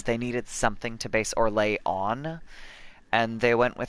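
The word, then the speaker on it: Orlais: thing that you're uh orlay oh that's um that's because it's based on French because if o r l a i s in French you just wouldn't pronounce the S at the end there's there's some spelling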